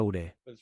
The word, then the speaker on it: Ouray: El nombre de la ciudad se escribe OURAY, pero se pronuncia Ure.